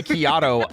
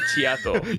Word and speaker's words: Kiato: That's why I changed my intro to Kiato like a macchiato. I see. Interesting. I always read that as Chiato. You're not the only one. I have many friends that still pronounce my name as Chiato.